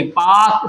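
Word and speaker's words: Palk: अच्छा इंग्लिश में इसकी स्पेलिंग हां देखिए पी ए एल के पाक स्टेट होता है।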